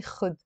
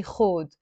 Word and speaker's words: خود: In Egyptian Arabic, they say خد. But in Lebanese Arabic, we don't say خد. We say خود.